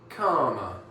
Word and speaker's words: calmer: But now we want to add an ER in the end, so it would be calmer. Calm. Calmer. Karma. It sounds like, doesn't it?